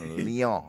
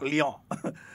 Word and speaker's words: Leon: We having that's a French pronunciation, Leon. Leon.